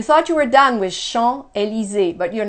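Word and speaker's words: Champs-Élysées: have the bigger ones Sean a li Zi notice I don't pronounce the S at the end I don't pronounce that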